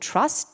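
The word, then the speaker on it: TRVST: It's called Trust, T-R-V-S-T, but pronounced Trust.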